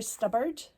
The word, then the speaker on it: Stubbard: Winter Stubbard. Rhymes with Hubbard.